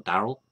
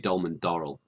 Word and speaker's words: Dolman-Darrall: Is it Dolman-Darrall or Darrell? Yeah, Darrell, you did mispronounce it Did slightly, it? so it's Dolman-Darrell. In the north, you're Dolman-Darrall.